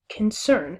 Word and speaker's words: concern: So you wouldn't say concern, you would say concern and allow the emphasis to fall on the second syllable.